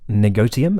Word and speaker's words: negotium: back to this word negotium it has a hard T this is a Latin word the Latin word the